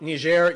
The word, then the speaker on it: Niger: Next up, Nishair. Yes, that's how you pronounce it.